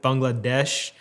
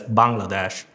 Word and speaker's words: Bangladesh: The only possible explanation I have is the way I said Bangladesh. Because that's how people outside of my country or South Asia pronounce it, but people from South Asia pronounce it as Bangladesh. Bangladesh.